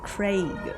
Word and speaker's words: Craig: I usually tell people it's pronounced Craig. Oh, really? It's not E. It's not with the E.